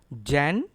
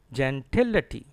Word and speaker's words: gentility: Gentility. Gentility. Stress is on TIL. And I tell you once again, it is not pronounced as it. It is pronounced as a T. Gentility.